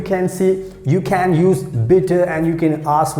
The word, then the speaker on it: bitte: so in german language we say bitter b i double t e and how we pronounce bitter bitter so you know you